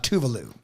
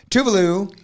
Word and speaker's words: Tuvalu: so uh uh uh Sovereign Nation called uh tuvalu tuvalu is where it is a it is a chain of nine Islands spell that uh Tu u v a l uh